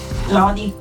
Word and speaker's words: Lodi: But is it pronounced Lòdi or Lodi? Lodi. Lodi.